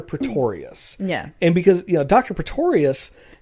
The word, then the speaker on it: Pretorius: no it's the pictorial dr. Pretorius Pistorius let me make sure because I kind of say it wrong sometimes yeah but it's a dr. Pretorius yeah and because dr.